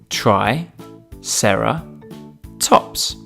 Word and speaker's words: triceratops: do we have with us today triceratops try sarah tops can you say it with me try sarah tops let's learn all about triceratops triceratops was found